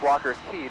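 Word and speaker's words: Walker's Cay: I only recently today learned that it's actually pronounced Walker Key despite being spelled Walker's K I don't know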